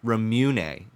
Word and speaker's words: Ramune: This is pronounced Ramune.